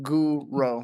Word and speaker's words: Guro: It's like grow, but just put Guro.